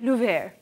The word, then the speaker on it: Louvre: The Louvre. Oh, that's the American pronunciation. I Googled it. If you're from France, you'd say Louvre. But Louvre works.